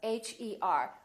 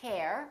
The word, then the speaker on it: her: For example, e r as in words like her, h e r. We don't say hair. We say her.